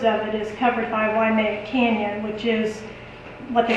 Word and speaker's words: Waimea: Waimea. Waimea. Mhm. So Do I know how to spell that?